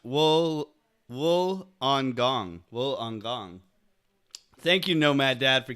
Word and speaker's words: Wollongong: Chute to make sure it was deployed properly pronounced Wool Wool on gong will on gong thank you Nomad dad for keeping me straight